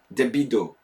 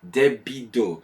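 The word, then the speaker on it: デビッド: All I know is how to say my name, Debido. That's how you say. It's awesome. I love my Japanese name, Debido, with like a proper B and a D and an O at the end.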